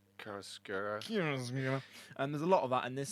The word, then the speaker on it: chiaroscuro: Chiaroscuro. Chiaroscuro.